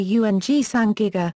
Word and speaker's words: ùĝ saĝ gíg-ga: The Sumerians referred to themselves as Ugsagiga, cuneiform, phonetically Ung-Sangiga, literally meaning the black-headed people.